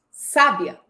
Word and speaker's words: sábia: Você sabia que a palavra sabia é verbo? Mas se eu acentuar a primeira sílaba, sábia, vira adjetivo. Mas se eu acentuar a última sílaba, sabiá, vira substantivo? E aí, você já consegue